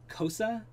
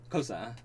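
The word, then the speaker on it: Xhosa: It is Kosa, but the k is a click sounds. Okay. It is a I can't do it. Yeah, I'm not even gonna try. Yeah, it's like a Kosa.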